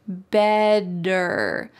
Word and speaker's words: better: Listen to that word. Better. Is there a D in this word? Better? Are we talking about a bed that you go to sleep in?